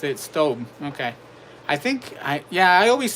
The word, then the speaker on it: Staub: Cast Iron Chaos says on their own website, Staub pronounced it Stobe. Okay, I always say Staub or Stobe, but it's always a hit and miss.